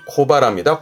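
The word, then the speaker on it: 小腹: 발음은 하라가 해를 하라가 해를 앞에 작은게 붙었네요. 그래서 발음이 코바라입니다.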